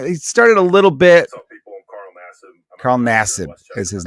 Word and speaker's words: Nassib: The guy's name is Carl Nassib, I believe is how you pronounce it. Carl Nassib.